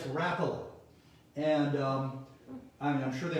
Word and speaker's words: Rapala: rappala lures a lot of you think it's pronounced rapala but it's rapala and um i'm sure they have a website